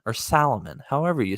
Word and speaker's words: Salomon: or not copying but is being influenced by Solomon well I've got to tell you that on